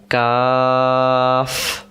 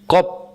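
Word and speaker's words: قاف: শেষে যেহেতু ফ অক্ষর পড়ছে তাহলে বাতাস বেরবে। কফ আর যদি আমরা বলি কফ কপ ত শেষে ব হয়ে যাবে। ব না কফ কাফ।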